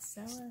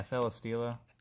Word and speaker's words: Celesteela: Celesteela. Yeah, Celesteela. Celesteela.